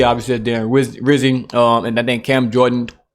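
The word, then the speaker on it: Rizzi: He said, my vote for head coach rhymes with Fizzy. Obviously, Darren Rizzy.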